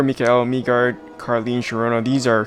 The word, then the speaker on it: Mikael: She's a she, and to pronounce her name, it's actually Mikael.